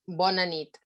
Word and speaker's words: bona nit: Yes, we said bona nit. Bona nit.